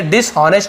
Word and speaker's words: dishonest: क्या होता है, dishonest, इसे dishonest नहीं पढ़ेंगे, h साइलेंट होता है, केवल dishonest बोलेंगे।